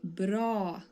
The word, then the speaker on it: bra: this say that so when you pronounce the word BR which means good you make the a sound very long and you say bra BR okay so let's continue